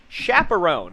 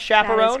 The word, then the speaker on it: Chaperon: But more importantly, I have a special guest joining me here in the studio as Keara Chaperon. Is that how you pronounce Chaperon?